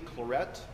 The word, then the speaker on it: Claret: founded by saint anthony claret and that's how you pronounce his name he's not french he's a catalan spaniard so saint anthony claret the years of his